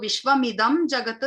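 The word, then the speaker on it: विश्वमिदं जगत्: So Vishwamidam Jagat is pronounced as Vishwamidam Jagat through the rules of Sanskritam.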